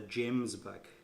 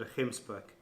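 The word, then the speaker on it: gemsbok: called a hemp spook a lot of the overseas guys pronounced at a Jim's back but it's called a this side we call it ahem spook those are very very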